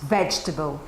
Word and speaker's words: vegetable: So try to tell your students, if the stressed syllable is here, the rest will be reduced, okay? They will never say vegetable because this is the strongest syllable, right?